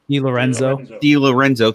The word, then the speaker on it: DiLorenzo: DiLorenzo, thank you.